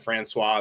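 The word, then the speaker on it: François: that yeah that's right I said Francois that's how it's pronounced um and expected goals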